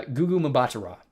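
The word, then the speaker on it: Gugu Mbatha: Uh GooGu Mabata, uh is how Goooo Mabata is how to pronounce her name.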